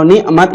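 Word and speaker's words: نعمة: Jadi kalau bacanya niqmat itu amarah, siksaan. Tapi kalau nikmat itu artinya nikmat, kenikmatan.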